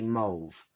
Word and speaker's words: mauve: my Moody mauve now I always say I I don't say mauve I say move so I guess it's